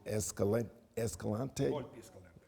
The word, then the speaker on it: Escalante: I first was contacted by Dr., I guess you pronounce it Escalante? Okay, yes, and certainly Ricardo has played a big role, and Gabriella.